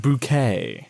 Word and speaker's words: Bucket: It's pronounced bouquet.